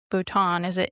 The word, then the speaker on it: Bhutan: I think I said Bhutan.